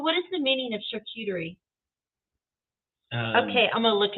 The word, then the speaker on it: Charcuterie: Mary likes the charcuterie. Room. So you got to pronounce it like it's French.